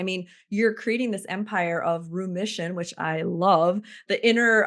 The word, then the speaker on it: Rheumission: not not it's um it's Room Mission spelled like room like Rheumatology um r h u